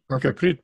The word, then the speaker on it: Gurpreet: Gurpreet, right? That's the right way to pronounce Gurpreet, it? Yep, perfect. Gurpreet.